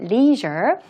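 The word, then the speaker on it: leisure: 뜻하는 건데 레저 시설인데요 영어로 발음할 때 leasure 발음 모음 발음 좀 주의해 주시고 또 에이션 교육의 중심지가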